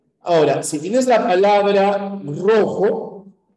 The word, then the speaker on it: rojo: tienes la palabra rojo esta r de rojo fíjate la r a qué se parece en pronunciación a la r de pero o a la r de perro A cuál de las dos se parece en la pronunciación a la r de perro por supuesto No el perro rojo perro rojo Solo que por una razón ortográfica ya una regla ortográfica Ninguna palabra empieza con doble r no es una razón